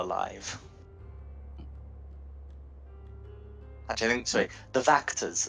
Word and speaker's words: Wachters: The Wachters are still alive. Actually, I think, sorry, the Vactors are still alive, and it's spelled with a W.